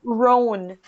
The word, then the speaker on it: Rohn: Rohn. Rohn, ça s'écrit comment?